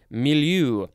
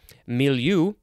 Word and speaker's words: milieu: so here's the synonym information background setting environment milieu misonsen mean the place time and circumstances in